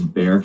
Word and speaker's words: Bexar: Bexar County, but it's Bear County because the X is silent.